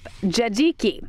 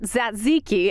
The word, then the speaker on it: tzatziki: the Colossus family and pronounced wrong by generations of Americans the Jinky sauce yep JG key not tzatziki as this Idahoan is used to saying another thing we tend